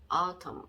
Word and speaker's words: autumn: 이런 경우에 그 경우에 N자 끝에 있는 N자는 묵음인 경우가 있다. 이런 경우에 한번 보시면은 M 밑에 미음자 적어주시고요. 그리고 N 밑에는 그러면 아무 글자도 적어주시면 안 되겠죠. 이게 묵음이니까. 그러면 조합을 해보면 autumn 이렇게 되겠죠. autumn 이렇게 autumn.